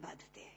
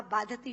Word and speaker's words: बाधते: कष्ट नहीं दे रहा जितना आपके मुंह से बोला हुआ बाधति शब्द कष्ट दे रहा है क्योंकि बाधते शब्द का अशुद्ध उच्चारण आपने किया है यह शब्द बाधते होना चाहिए भारत न बाधती राजन